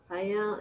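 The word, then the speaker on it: Faial: Are you going to need to be tested if you go, you know, to Fayal?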